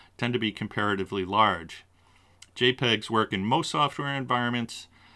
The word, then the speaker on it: JPEG: might take a while jpg files were developed by joint photographic experts group commonly pronounced jpeg this is the most